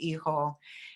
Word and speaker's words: hijo: The H is silent in Spanish, like hijo.